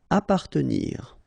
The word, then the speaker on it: appartenir: Appartenir. Okay, double P. Basically, you don't pronounce the double, so you just pronounce appa. Appartenir.